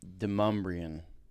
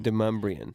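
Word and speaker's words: Demonbreun: Demumbrium. There's an N, not an M. Demumbrian. And I want to say Demumbrium every time with an M. Every time.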